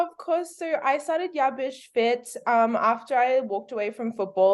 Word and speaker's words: Bish Fit: You got Bish Fit.